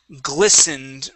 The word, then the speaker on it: glistened: go to the word glistened right here okay glisten the t is silent glistened glistened glisten from